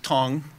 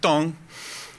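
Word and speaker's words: 汤: So in China, soup is tong, which is T-A-N-G, but pronounced tong.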